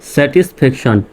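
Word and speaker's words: satisfaction: তাহলে এরকমশন উচ্চারণ হবে শব্দের শেষে টি আই ও এন থাকলে সান উচ্চারণ হবে টি আই ও এন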